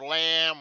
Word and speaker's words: lamb: of a sheep or lamb or a mountain goat oh okay yes i forgot this is b sound is silent right so it's a lamb and the pig right